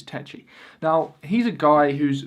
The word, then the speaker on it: Takyi: I said, hey, nice to meet you, Takyi. I just so vividly remember him saying, that's really not how you pronounce my name, man. And he like phonetically spelt out the correct pronunciation, which is Takyi.